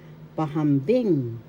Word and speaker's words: pahambing: Second one, pahambing. Pahambing comparative you compare two things pahambing. First syllable pa. Second syllable ham. Third syllable bing. The third syllable has the accent.